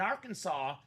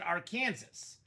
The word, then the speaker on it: Arkansas: But anyway, so he had a weird book of laws, and it's illegal in Kansas or in Arkansas to pronounce it Arkansas.